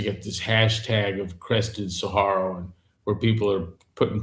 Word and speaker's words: saguaro: The How do you pronounce the word sa- saguaro?